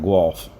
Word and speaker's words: Guelph: Guelph, okay. Yeah, you're not too far from Toronto. Back when I drove for Schneider, they got a terminal there in Guelph.